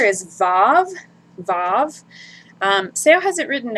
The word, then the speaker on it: vav: ago or a long time ago as a wow. So in classical Hebrew pronunciation, it would have been the W sound, the W sound. But in modern Hebrew today, it sounds more like a V, a V.